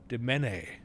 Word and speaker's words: demesne: Oh, the S is silent. Demene.